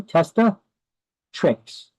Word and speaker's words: testatrix: Testa, T-E-S-T-A, testa, trix, T-R-X, T-R-I-X. Testatrix. It's pronounced testatrix.